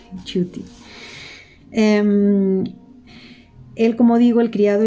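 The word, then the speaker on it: Ciutti: cierto en otra ocasión lo he mencionado como si futty porque claro no recordaba yo que que se pronunciaba así chuty él como digo el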